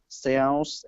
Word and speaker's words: cells: Yeah, so the first one is cells. The second one is shells.